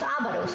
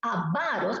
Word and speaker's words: avaros: Muy bien, dice cuarto círculo, mira aquí, avaros, no es ávaros, ¿ah? Ojo, no lleva tilde, no es ávaros, es avaros, palabra grave.